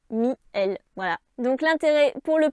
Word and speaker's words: miel: Contre-exemple, le mot miel vient du latin mel, donc il n'y avait qu'une seule voyelle. Il n'y a donc pas de diérèse en poésie et on prononce miel et non pas mi-el.